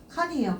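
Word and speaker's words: 看: 들어가 있는데 이거 음봉으로 읽어 줄 때 이제 칸이라고 읽어 주시면 되겠습니다 칸이에요 칸 자 그럼 체크 한번 해 보도록 할게요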